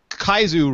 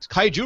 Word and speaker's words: Kaiju: have as usual the uh always entertaining often kaisu related Kaiju related I mispronounced Kaiju Peter as that's paing Peter Cohen